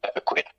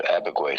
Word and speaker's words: Abegweit: The actual original pronunciation would be more like Abegweit, but it turned into Abegweit over the years.